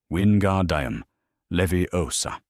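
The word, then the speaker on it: Wingardium Leviosa: The incantation windgard levy osa. Stress the O. Long second syllable on the second word.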